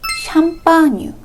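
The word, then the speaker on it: Champagne: 그리고 샴페인의 원래 발음인 샴파뉴라는 지역에서 만든 와인이어야 합니다.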